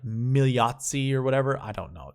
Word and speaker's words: Migliozzi: I heard on PGA Tour Radio, it was like you don't pronounce the G or the L. It's like Migliozzi or whatever.